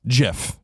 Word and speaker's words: GIF: So the GIF or peanut butter. GIF? GIF or GIF. The peanut butter, right? Now the answer is GIF.